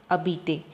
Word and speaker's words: habiter: So you should not pronounce the H, that is a mute vowel. So you have to pronounce habiter.